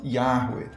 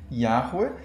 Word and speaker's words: Yahweh: E quanto à pronúncia, a reconstituição assim, atual é mais ou menos essa, né? Yahweh, mas não dá para ter certeza justamente porque como esse nome foi tão evitado e foi sumindo aos poucos da linguagem oral, a pronúncia foi perdida, assim, né?